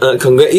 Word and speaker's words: congratulations: 근데 뒤에 S가 붙어야 돼요. 그래서 congratulations으로 끝나는 게 아니고 congratulations, s로 끝나야 돼요.